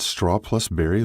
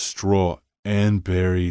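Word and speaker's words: Straw+Berry: Have you worked at straw plus berry long? Um, actually, Kip said, figning offense. It's pronounced straw and berry, so Scott put up his hands and grinned.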